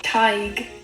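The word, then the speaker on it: Tadhg: roll with it Taj TIG what where did the D go she said TIG so the D turned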